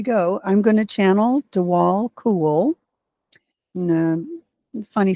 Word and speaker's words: Djwhal Khul: I'm going to channel Dewal Cool. Funny spelling, but do all cool is how we pronounce it.